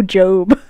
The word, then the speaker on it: Job: mean but only turmoil job was a man honest and adoring Justice wait what no no wait I think it's job it's pronounced job right oh oh book book of Job to a Catholic School